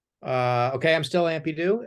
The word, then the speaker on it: Ampydoo: Um, and he creates his comics under the pseudonym Ampydoo. Am I pronouncing that right?